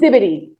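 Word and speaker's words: Nsibidi: Did I pronounce that? Insipidity. Incibidi. Insipidity writing system. Incibidi.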